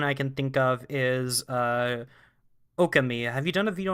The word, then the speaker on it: Okami: It's actually Okami, but Okami.